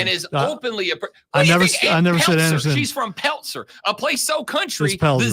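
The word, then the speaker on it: Pelzer: didn't say Anderson and is openly she's from Peltzer a place so country the Z is pronounced it's it's pzer palzer I have been corrected now I don't care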